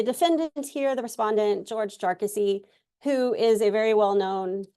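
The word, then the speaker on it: Jarkesy: jassy case and uh I did kind of try to check the pronunciation for that and it appears from from Mr jassy's uh Council that that's how his name is pronounced so uh this is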